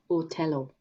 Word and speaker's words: Othello: for me in othello because it's otello and i had to really remember to really push out my lips for that pure o sound and it wasn't an